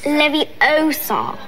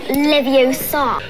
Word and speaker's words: Leviosa: someone's eye out besides you're saying it wrong it's leviosa not leviosa spoilers they want me